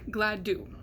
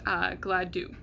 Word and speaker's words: Gladue: be saying the name, and that is Cindy Gladue, or Gladue. It's pronounced both ways, but what I'm most commonly hearing is Gladue, her last name.